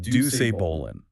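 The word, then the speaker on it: Doucet Bolin: And to the victor goes the most coveted prize in the Omega Cluster universe, the Ducet Bolan, pronounced Duce Bolan, which is a great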